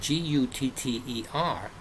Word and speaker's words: gutter: say here rhode island the word g-o-t-t-a and g-u-t-t-e-r are both pronounced the same the gutter on my house is the same as gotta go to the store so that that's